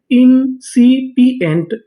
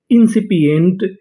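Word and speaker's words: incipient: आई एन इन एस आई सी इंसी आई पी इंसिपी ई एन टी एंट पूरी meaning इंसिपिएंट इंसिपिएंट इंसिपिएंट।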